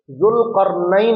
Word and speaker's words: ذوالقرنین: تو بہرحال اس کا صحیح تلفظ جو ہے وہ ذوالقرنین ہے.